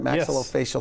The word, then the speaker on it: maxillofacial: Maxillofacial surgeon.